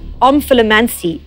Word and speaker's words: omphalomancy: Your word to spell is omphalomancy. Definition? Divination of the future by studying the navel. Origin? Middle English. Usage in a sentence? The priest used omphalomancy to convince the queen that she would have more than 5 children.